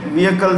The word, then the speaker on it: vehicle: trade has launched the vehicle service the h is silent vehicle service for rural